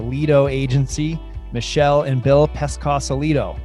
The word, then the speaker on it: Pescosolido: Today I have with me the husband and wife powerhouse behind the Lido agency, Michelle and Bill Pescosolido. Did I pronounce that right? Kind of. Pescosolido. Cosolido.